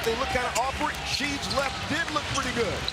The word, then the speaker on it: Sheed: look kind of awkward sheed's left did look pretty good greg was a little impressed great thing about seed is that everything is only the last syllable it's sheed it's not rasheed it's ships as in